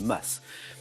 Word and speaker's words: mas: l'oma selon le pr non seulement voilà les deux prononciation sont bonnes maisons provençales plus petite que la bastille je suis le mahou le mas deuxième image que suis-je